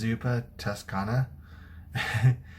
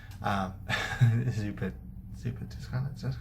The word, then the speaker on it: Zuppa Toscana: Today I'll be cooking, I think it's pronounced Zuppa Toscana. And I did partially choose this recipe because it's difficult to say. Zuppa Toscana, Zuppa.